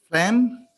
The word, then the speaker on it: phlegm: Oh, phlegm. Yeah, phlegm, yeah. Okay. Okay. Can you spell that? P-H-L-E-G-M. L-E-G-M, yes. Yeah. I missed the G. Yeah, P-H-L-E, yeah, sign, what called this? Silent G.